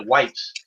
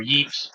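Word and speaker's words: Ypres: all the way to White's or Yves depend upon how you want to pronounce it and so will these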